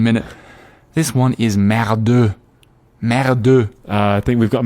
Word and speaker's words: merde: How are we pronouncing merd when we're mixing it with English? You should say merde.